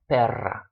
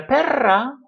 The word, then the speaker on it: perra: So you have to be careful about if you roll your R or if you do not roll your R. Pera, perra, pero, perro, no son iguales. They're not the same thing.